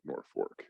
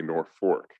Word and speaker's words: Norfolk: with the spelling but we're still going to pronounce it nor fork and to this very day we say nor fork and it speaks to